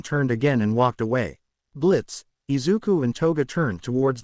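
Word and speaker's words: Blitzø: Blitz. Slightly nervous. Exactly. The O is silent.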